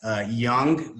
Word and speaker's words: Jung: Last name is Young, but it's spelled Jung. It's a little bit strange, kind of German.